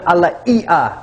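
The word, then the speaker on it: ʻalaea: salts and this is a Hawaiian Alia salt is how they pronounce it in Hawaii and this has to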